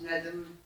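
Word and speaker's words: بنادم: En fait, c'est composé, en marocain on dit Ben Adam parce qu'on raccourcit on saute les syllabes.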